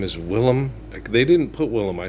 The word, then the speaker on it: Willem: It's Willem. Willem Wallace, not William. It's Willem. Okay. Willem Dafoe. It's not William. Okay. It's spelled differently and pronounced differently. Willem.